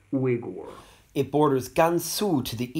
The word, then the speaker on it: Uyghur: It's designated for the Uyghur people, commonly pronounced in English as Uyghur, but I'm told that their native name actually sounds more like Uyghur.